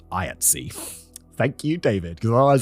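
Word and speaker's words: IATSE: I ta specifically told me it's pronounced IATS. Thank you, David. Because otherwise I'd be going through it pronouncing it iats e. Maybe I'll just assume for all American things that it's always shoved together.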